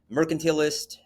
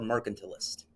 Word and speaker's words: mercantilist: tied to British, and you can pronounce this next word at least 3 ways that I've heard in my life: mercantilist, or mercantilist. I don't care which of those 3 you use.